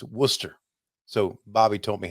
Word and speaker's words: Worcester: r so I would say it right it's Worcester so Bobby taught me how to say it